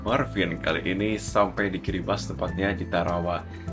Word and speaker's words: Kiribati: Dan kali ini kita akan mendarat sebentar lagi di tarawa kiribas. Jadi bacanya adalah kiri bas bukan kiri bati. Karena untuk orang sini atau orang lokal itu tidak ada aksen Ti. Mereka tahunya S.